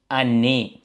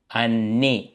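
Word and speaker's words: année: என்று வாசிக்கணும் ஓகே மூடப்பட்டது அடுத்து ஆண்டு வருடம் என்று சொல்றதுக்கு வந்து அன்னே ம் அன்னே என்று வாசிக்கிறோம் ஓகே நேரா மிதி வண்டி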